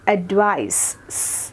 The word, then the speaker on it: advice: CEയിൽ എൻഡ് ചെയ്യുന്നതാണെങ്കിൽ we will pronounce it as advice.